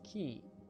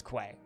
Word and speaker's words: Quay: So, that's a regional thing. Once again. But yes, I do realize that certain parts of the world pronounce it as key. But there's a place called Longsdale Quay, which is spelt like that, and they have a very large key. Longsdale Quay, everybody who lives there pronounces it as Quay.